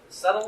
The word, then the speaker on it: subtle: But on top of that, there were subtle subtle, is that right?